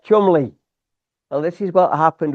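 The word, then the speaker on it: Cholmondeley: you might know what I mean because it's pronounced Chumli.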